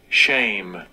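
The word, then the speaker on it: שם: there Strong's age 8034 Shame Shame you notice the word for name in the Hebrew is shame that is how you pronounce it and whenever somebody tries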